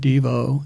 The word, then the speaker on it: Devo: song called chocolate homo where it ended up accenting the second syllable and that changed it because then everybody said Devo instead of did you try